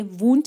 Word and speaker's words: Wundt: अगर हम बात करें वुंट की, ये विलियम वुंट है जिसमें स्पेलिंग मिस्टेक है, ओ नहीं होगा यहाँ पे, WUNDT होगा।